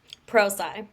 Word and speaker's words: ProSci: Pro sci.